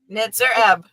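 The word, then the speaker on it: Nitzer Ebb: Nitzer Eb.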